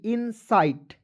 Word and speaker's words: incite: उसके बाद देखेंगे INCITE इनसाइट, क्या पढ़ेंगे, देखिए CITE को टाइट आइट करेंगे,